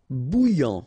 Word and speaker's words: bouillant: P payé mal payé irritable insist final aveugle same thing final not present so aveugle aveugle bouillant final not pronounced are together Ok.